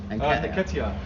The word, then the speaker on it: Nketiah: How'd you say his name? Nketiah. I know. I thought it was Niketa as well.